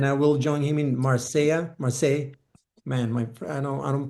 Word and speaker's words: Marseille: Finland, and then I will join him in Marseille. Marseille, man, I don't pronounce.